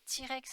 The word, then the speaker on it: T-Rex: pas ti point rex t-rex en américains parce que le thé se prononcent ti à négliger c'est l'abréviation